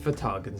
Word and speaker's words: Ftagn: I think it's Ftagn Simulator. After doing some extensive research, I'm told this game's name is pronounced Ftagn Simulator.